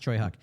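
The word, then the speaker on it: Tsui Hark: director whose name is pronounced, I believe, it's Choi Huk, but it's spelled like Soy Hark. So, but it's pronounced Choi Huk.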